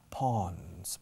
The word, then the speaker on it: pawn: Suena a charca como pond o estanque, pero sin la D. Pawn, pero se escribe P-A-W-N. Pawn. Como el alba o el amanecer. Dawn. O como un césped bien segado. Lawn.